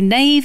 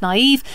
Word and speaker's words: naive: I used to say naive instead of naive.